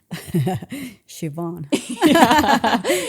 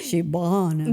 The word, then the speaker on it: Siobhan: Siobhan. Siobhan.